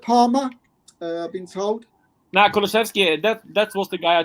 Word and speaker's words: Kulusevski: Yeah, Kulusevski. Have I pronounced that right?